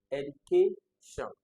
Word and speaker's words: education: this correctly, it's actually education. Education. Education. So there's like a rising education. So the stress is on K. So where is the stress in the word education? It will be on CA.